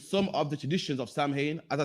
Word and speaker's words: Samhain: Halloween's origin dates back to the ancient Celtics festival of Samhain, pronounced Samhain, Slovakia.